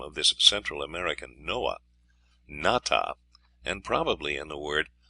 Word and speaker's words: Nata: The name of the hero of the Aztec story, Nata, pronounced with the broad sound of the A, is not far from the name of Noah or Noey.